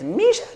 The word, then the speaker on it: Michele: be 1,000 little kids, Misharu, which is how you say my name in Japanese, Misharu, and they